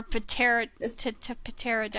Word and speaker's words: pterodactyl: Yeah, or because it's so well known, or pterodactyl. Pterodactyl. Pterodactyl. Is the pterodactyl the one that flies? I think so, yes. Okay, I would be the pterodactyl. I know the P is silent.